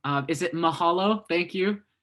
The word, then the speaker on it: mahalo: Well, if I'm not saying it wrong, is it mahalo?